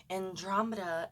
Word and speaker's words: Andromeda: compared to the Andromeda by the way Andromeda is the right way to say it yep I listen to